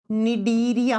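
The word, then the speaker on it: Cnidaria: पर लिखो डीरिया देखो लिखा जाएगा सी से प्रोनाउंस किया जाएगा एन से डीरिया फाइलम मैं फिर से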